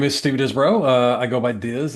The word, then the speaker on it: Disbrow: Okay, well, my name is Steve Disbro. I go by Diz. It's a family and nickname cuz the last name's pronounced Dizbro.